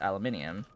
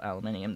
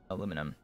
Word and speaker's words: aluminium: in the game otherwise aluminum there is a very there is a difference in spelling between us and britain when it comes to that particular metal he's really having a